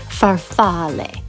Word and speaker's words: farfalle: looked it up and the Italian pronunciation for the pasta is farfalle okay now that my